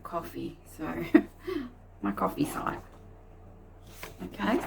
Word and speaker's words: Ko-fi: Some people call it Ko-fi, and since then someone has said that you pronounce it coffee, so my coffee site.